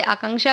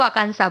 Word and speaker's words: आकांक्षा: और सही-सही से करें जैसे आकांक्षा को आकांशा बोल देते हैं कोई भक्त कि ऐसा